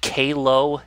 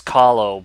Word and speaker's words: Kahlo: Did you pronounce it Kalo? Do I have that correct? You know, is that right? Because I don't know, that's kind of awesome. I mean, yeah, I'm still keeping it as Kahlo, but you know, Kalo is definitely an interesting way to say it.